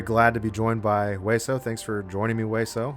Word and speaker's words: Weso: It's not way. But yeah. Okay. Let's. So the official pronunciation, it's Weso.